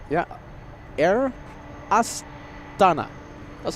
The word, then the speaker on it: Astana: Well, let's go for the Air Astana. Yeah. Air Astana.